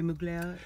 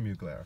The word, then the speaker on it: Mugler: his exhibit in Canada the French woman pronounced it so no D so how do you say it Thierry Mugler okay I know isn't